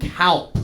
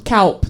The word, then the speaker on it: Kaupp: cow with a P. Kaupp. Kaupp. Like, say it like a really angry German man, and you got it.